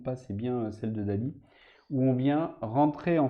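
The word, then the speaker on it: DALL-E: à ce qu'on appelait Dali donc Dali ça s'écrit Dall espace e enfin tirez eux et le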